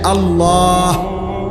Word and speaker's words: আল্লাহ: উচ্চারণ হইতে হবে শেষে আল্লাহ শেষে একটা গোল হা আছে ছোট হা আল্লাহ মানে আল্লাহু তো